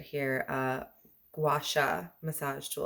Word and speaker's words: gua sha: guy right here uh guasha massage tool i really want to call it a gashal and it's not that it's a gua sha so i'm probably gonna